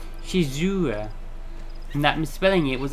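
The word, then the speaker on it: Shizuru: them warn me that the name of the goddess is actually spelled and pronounced shizura and that misspelling it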